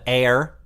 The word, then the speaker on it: Ayr: It's called Air, but it's spelled Ayr.